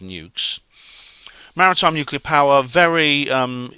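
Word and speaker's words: nucs: them that is um n-u-c-s is how it's spelled but it's pronounced nukes Maritime nuclear power very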